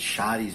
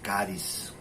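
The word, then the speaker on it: χάρις: Na verdade, charis, mas pronuncia-se charis, né?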